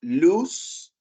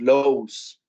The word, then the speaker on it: lose: En este caso tenemos lose, lost, lost. ¿Sí? Aquí, como pueden ver, no tiene que ver con el sonido corto o largo. El largo sería O. Y en ningún decimos lows.